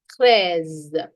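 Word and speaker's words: treize: Cres 14.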